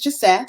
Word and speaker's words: Jeseth: again my name is jth which I like to say rhymes with McBeth um originally originally from